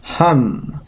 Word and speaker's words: hum: And the mantra associated with this chakra, or which corresponds to this chakra, is hum. So you write H-U-M and you'll get the right pronunciation.